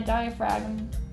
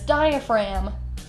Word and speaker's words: diaphragm: almost straight into my diaphragm why do I always pronounce it like that it's diaphragm I see the r and I'm and the G and I want to pronounce it diaphrag it's diaphrag diaphragm almost straight into